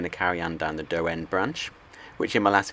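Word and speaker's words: Daw End: We're now going to carry on down the do end branch, which in my last video I called the door end branch, but in fact it is pronounced dough as a lot of people said in the comments.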